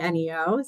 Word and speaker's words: Neo: guess I should ask did I pronounce it right I said Neo laog group or is it Neo Law Group this is this subject of internal debate at our firm I say Neo so as far as